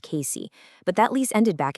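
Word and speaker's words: Cayce: That's spelled C A Y C pronounced Casey.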